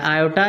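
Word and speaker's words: aorta: इसमें are silent रहता है, आयोटा या ओर्टा बोलते हैं, आयोटा।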